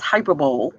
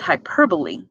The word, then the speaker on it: hyperbole: throw and so the word hyperbole it's not pronounced hyperbole but hyperbole means to overthrow or go over so again